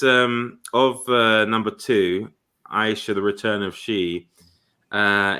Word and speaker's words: Aisha: horse Hol states that Aisha is pronounced Asha that yeah I'll still see Aisha yeah me too as